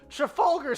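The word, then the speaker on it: Trafalgar: traf oh trafer that that's what it is Trafalger Square um Trafalger square and then um we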